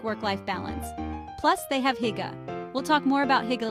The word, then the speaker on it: hygge: Hygge, pronounced hygge, is like this cozy, content feeling you get when you're surrounded by loved ones, good food, and a warm atmosphere.